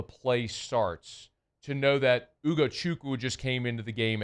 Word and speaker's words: Ugochukwu: You flipped the first and the third letters. Did I? Yeah, you did. You said Ugochukwu. It's Ugo Chuku.